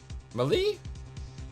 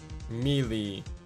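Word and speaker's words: Meele: Malie? Cami Malie. Mealy. Meal. It's supposed to be meal. I'm saying it wrong. My bad. I've been saying it wrong this entire part. I forgot. It's Miss Meal.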